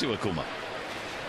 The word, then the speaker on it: Iwakuma: It is Iwakuma.